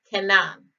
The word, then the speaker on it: Canaan: it is strong's h 3667 and it is pronounced canaan it is written was a son of ham